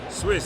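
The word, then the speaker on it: Suisse: Swiss. Swiss. Swiss. Swiss. Swiss. Yeah. So, it's Swiss capital and it's spelled the French way. Right. So, s u i ss e.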